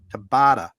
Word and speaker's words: Tabata: Tabata.